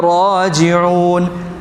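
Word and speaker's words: رَاجِعُون: തന്നെയാണ് അവിടെയും വന്നാ ഇലൈഹി റാജിഊൻ ഇവിടെ റാന്റെ ഉച്ചാരണം എങ്ങനെ റാജിൻ അല്ല മറിച്ച് റാജിൻ ഇന്നാലില്ലാഹി വ ഇന്നാ ഇലൈഹി റാജിഊൻ ഓക്കേ അടുത്ത ആയത്ത് ഉലായിക്ക അലൈഹിം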